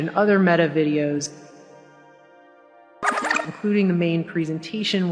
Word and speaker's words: Meta: the word meta is pronounced like the feminine form of the Hebrew word for dead and so that was